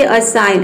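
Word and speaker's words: assign: उसी तरह से यहाँ पे देखिए असाइन, असाइन मीन्स होता है सौंपना।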